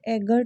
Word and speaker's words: eager: सबसे पहली बात है कि इसका जो प्रोनाउंसिएशन होता है ना, वो होता है एगर टू, ना कि ईगर टू।